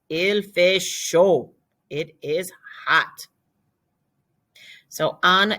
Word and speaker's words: chaud: The D is silent. Il fait chaud.